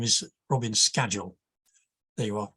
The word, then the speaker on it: Scagell: and I hadn't discussed how my name is pronounced which always causes problems and for the for the record the name is Robin's schedule there you are schedule and the uh my uh interesting glow worm